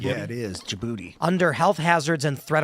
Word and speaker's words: Djibouti: Is that how you pronounce that? Djibouti. Yeah, it is. Djibouti under health hazards and threat of rocket attacks